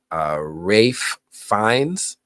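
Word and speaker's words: Ralph Fiennes: Rafe Fiennes, I always got to say it properly because otherwise I'm going to pronounce it phonetically.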